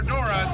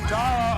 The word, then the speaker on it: Dara: Is it Dara or Dora? There seems to be some confusion. Yeah, some of these fans like to call her Dora, but it's Dara O'Conley. She does not like it when you mispronounce her name.